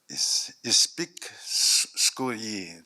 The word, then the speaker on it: Aitsi'poyiiksi: It's called Aitsi'poyiiksi. Just wait, I'm nervous. Aitsi'poyiiksi, that's how you say it.